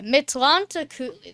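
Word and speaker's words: Mictlantecuhtli: Pronunciation. That's what I want. Okay. So... Mictlantecutli. Mictlantecutli. Mictlantecutli. Okay, Mictlantecutli.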